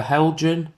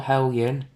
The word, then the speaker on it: Heljan: All in all, the Helgen or Helen, depends on how you say it, Class 33 is an immaculate model and for £100, you can't really go wrong.